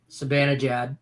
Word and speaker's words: Zibanejad: Zibanejad to record an assist.